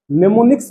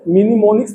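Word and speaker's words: mnemonics: निमोनिक्स based approach. यहां पर इसको मिनीमोनिक्स नहीं पढ़ेंगे हम लोग क्योंकि एम साइलेंट है तो इसका ध्यान रखना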